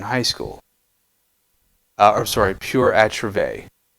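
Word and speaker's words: pur autre: school uh I'm sorry pure atra say it right yeah pure atra right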